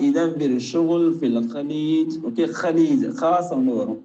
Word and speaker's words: خليج: Okay, خليج خاص ஒன்று வரும். நம்ம தமிழ்ல ப்ரொனவுன்ஸ் பண்ண அந்த கலீஜ் அந்த மாதிரி கிடையாது, خاص ஒன்று வரும்.